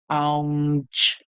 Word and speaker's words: lounge: So for the G sound here, we are going to hear a song like J. The E at the end is silent. So the word is lounge, lounge, lounge, lounge, lounge.